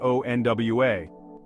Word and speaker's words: aux noix: Je suis allergique is pronounced like je suis allergique, and aux noix sounds like ONWA.